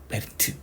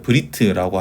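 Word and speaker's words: בְּרִית: 베트니까 배에서가 약간 베리트 뭐 이렇게 베리트 이런 식으로 에 발음을 거의 안 하는 방향으로 가는 게 유성 쉐바입니다. 왜냐면 에라는 발음을 했으면 이미 째레나 세고를 해야 되는 거거든요. 근데 그게 아니라 더 안 하는 방향으로 갑니다. 어떤 분들은 이 에라는 방향을 안 하고 으라고 발음하시는 것도 있습니다. 그래서 브리트라고 하시는 분도 있는데, 저희는 편의상 에라고 하겠습니다.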